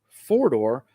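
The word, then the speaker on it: Fordor: doors they had another version which was a four-door which was spelled f-o-r-d-o-r so this is a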